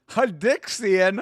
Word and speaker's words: Hadixian: All right, how do you pronounce his first name? Hadixian.